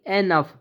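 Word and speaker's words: enough: ऐसे ही होता है ओ ओ यू जी एच जब भी ओ यू जी एच दिखे तो इसका साउंड होता है अफ जैसे कि एनफ ई एन ओ जी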